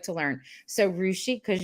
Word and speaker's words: Rushi: So Rushi, because you said like sushi, right?